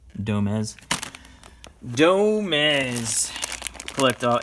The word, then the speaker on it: Domez: Domies! Domies. Domez. Yeah, it would definitely rhyme with Gomez, so that's Domez.